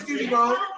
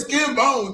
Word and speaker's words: Skin Bones: He doing Skinny Bones. Skinny Bones funny though. He go with it. He understand. Skinny Bones. He understand. It's Skin Bones though. So you been saying his name wrong.